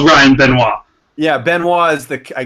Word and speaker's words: Benoit: to say it yeah Ryan boo muah yeah right if you go introduce yourself to some ladies you want to be Ryan been one definitely not Ryan Binoy i'm mr.